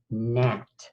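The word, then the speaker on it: gnat: spelt with an end but in this case we are gonna have one of those silent letter combos and we are gonna be using GN GN silly huh and let's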